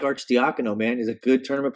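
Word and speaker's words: Arcidiacono: Ryan arch the Econo took me an entire season and looking up his Twitter account and watching the video of him pronouncing his last name on his Twitter account over but Archdeacon o is how you pronounce it he's back in the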